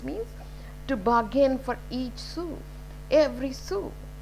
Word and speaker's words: sou: earn every soul every su s oru is sue so how this print pronounced in the french so you can see